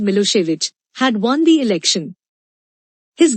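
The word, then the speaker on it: Milošević: were in majority a narrow-minded Serb nationalist oswick pronounced milosevich had won the election his government was very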